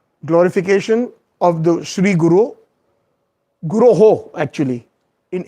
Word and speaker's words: Guroh: Vande Guroh. Guroh Shri. Yeah. Not so. Most of us sometimes mispronounce. We say Vande Guru Shri Charanaravindam.